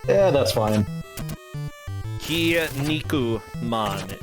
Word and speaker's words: Kinnikuman: Kinnikuman apparently is the way that you would say it, but whatever.